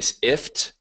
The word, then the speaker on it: IFTTT: see why not again you sift is how you're supposed to pronounce it IFTTT if this then